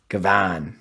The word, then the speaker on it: gavone: so it's spelled g-a-v-o-n-e but it says pronunction wise it's it's j g a h space v o w n kavan yeah that makes sense I don't know if